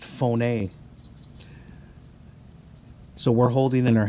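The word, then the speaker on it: φωνή: for voice look at that guys phone it's pronounced phone a so we're holding in our hands our phones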